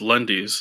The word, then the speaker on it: Lendis: I'm pretty sure it's pronounced Lundy's, like Wendy.